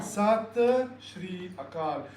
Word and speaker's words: Sat Sri Akal: So it's Sat Sri Akal, meaning it's an acknowledgement of, hey, you are the one, I am the one, and the one exists everywhere. So how do you say? Sat Sri Akal.